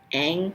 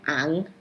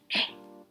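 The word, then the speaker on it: Aang: I just wanted to say, isn't it pronounced ang, not ang? Like, I'm sorry, like, it actually bothered me at some point. I was like, why do they keep pronouncing it like that, bro? Get it right. It's ang.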